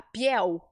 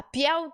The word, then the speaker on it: piel: dizer assim ó a Piel a Piel de oja e até saiu bem esse oja Então sempre que você ver um l no espanhol você vai fazer o l bem forte pi Olha chato